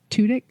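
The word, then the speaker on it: Tudyk: take an Allen Tudek Tudik. Tudic. Tuttk. So sorry I always say it wrong because I remember very specifically he's just saying it tudik.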